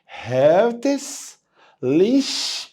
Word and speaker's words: herzlich: ليش willkommen، هيرتس ليش willkommen. قال لي ايه ليش دي؟ الاي سي ها عندنا في الالماني بتتنطق شين خفيفه، يبقى قول معايا هيرتس ليش willkommen.